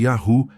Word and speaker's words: Yahu: Por que não outras pronúncias? Muitas pronúncias modernas, como Yahweé, Yhova ou Yahua, são invenções tardias. Vamos analisar porque elas estão erradas. Um. Yahwe. Yahué surgiu no século X em especulações europeias sem base no hebraico antigo.